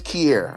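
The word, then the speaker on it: Kierre: I My name is Kier. I'll say my name is Kier. It's like K I E R R E.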